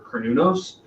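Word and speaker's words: Cernunnos: asked me to and i always say his name wrong because i realize it's closer to um carnenos or carnunos uh but i speak with an american accent um also he's a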